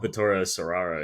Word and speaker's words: Vittorio Storaro: I want to pronounce that correct. Vittorio Storaro.